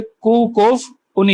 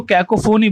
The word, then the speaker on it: cacophony: अब देखते हैं प्रोनाउंस्ड एज कू कोफ। ये इसका प्रोनाउंसिएशन दिखाया है कि आप इसको बोलेंगे कू कोफ उनी। ये जो भी वर्ड है आप इसका प्रोनाउंसिएशन देख लेंगे। हमारे यहाँ पे तो उसको कैकोफोनी बोलते हैं, लेकिन ये आया कहां से है?